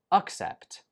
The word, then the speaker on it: accept: This one is pronounced accept, accept, and this one is pronounced accept, accept. The only difference is in the first syllable, uck and ick.